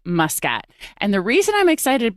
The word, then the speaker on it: Muscat: used to being the north americ pronunciation of my surname Muscat here in Malta it's Muscat mkat and it for all my life I always tell people it's muskat and now it's like no it's muskat I love it I